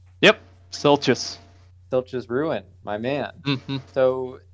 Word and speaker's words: Silchas: obviously did the best so silchus am i pronouncing this right yep silchus filch's ruin my man so explain a little